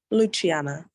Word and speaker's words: Luciana: unmute yourself Luciana yeah and how do you pronounce your name Luciana Luciano okay thank you okay all right any